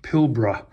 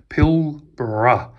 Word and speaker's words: Pilbara: we have the Blue version of the houtman pilbra and for anybody out there who's interested in one of these watches it's pronounced pilbra pill bruh I'm from the exact same location as Jason